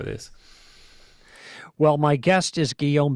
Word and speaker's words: Guillaume: well my guest is guillen bignon and um if you don't speak french that would be which i don't but i do know how to say his name it's like william in french did i get that